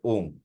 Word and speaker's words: ॐ: অনুভব থেকে বলা যে প্রকৃত উচ্চারণটা হচ্ছে ওম ও এনজি ওম যাতে ভাইব্রেশনটা কম্পনটা এই